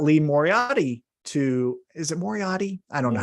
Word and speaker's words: Moriarty: First, Stokely Hathaway on the previous night's Rampage episode got Lee Moriarty to, is it Moriarty? I don't know how to say his last name. Moriarty.